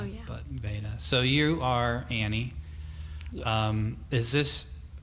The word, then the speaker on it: Veda: I always want to go long E, Veda, Oh, yeah. but Veda.